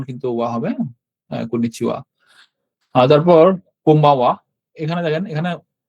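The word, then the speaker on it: こんにちは: হ্যাঁ, সো এরপরে যেটা আছে সেটা হচ্ছে কন্নিচিওয়া। এখানেও আসলে একটু ব্যাখ্যা করার মতো জিনিস আছে। এটা হা, বাট কন্নিচিওয়ার সাথে এটা হাটা উচ্চারণ হবে ওয়া।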